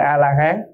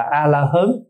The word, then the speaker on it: A-la-hán: Ngày xưa các cụ xưa không có cho gọi A-la-hán, phải đọc là A-la-hớn, bởi vì các ngài